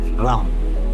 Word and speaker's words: राम: मंत्रा है इसका राम, RAM, हालांकि राम की स्पेलिंग है बट इसको बोलते हैं राम।